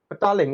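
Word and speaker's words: Petaling: how do you spray pata how do you spell that please battalion is p-e-t-a-l-i-n-g battalion okay no that's fine i'll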